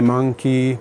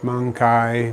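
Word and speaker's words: mancae: m-n-m-a-n-c-a-e is the plural the pronunciation varies some people say monkey mangkai monkey i say usually the version because i speak italian and italian is very similar to latin i say mangkai which is kind of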